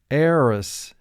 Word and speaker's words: heiress: barley mark the word barley row six heiress eris the heiress moved to monte carlo eris the first syllable has one sound a res has three